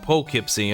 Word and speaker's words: Poughkeepsie: I pronounce it as, and Silly can correct me if I'm wrong, but I pronounce it as pug, as in the dog breed there, Kipsy. Oh, Poughkeepsie, okay.